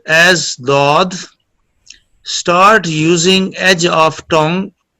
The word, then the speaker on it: ضاد: is ضاد pronounced as dod. Start using edge of tongue touching gums of upper molars. جی پھر بیان کیجیے. The ضاد pronounced as dod.